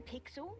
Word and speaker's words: Pixel: not weird guy i'm pixel it's easy to remember because it rhymes with pickle so it does i'm